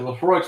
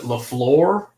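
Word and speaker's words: Laphroaig: from told us that you pronounce it LaFleur. And so for the first few years, we're like, I need some of that LaFleur.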